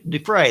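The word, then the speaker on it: Dufresne: Which actor played Andy Du uh Dreshna? Is that is that how you pronounce it? Duhna. Du fray I think. D Fray. That's it.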